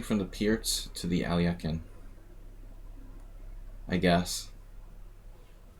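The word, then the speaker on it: Alekhine: Transposing from the Pierce to the Alyekin, I guess. Alyekin. Alyokhin. We've got to pronounce things correctly.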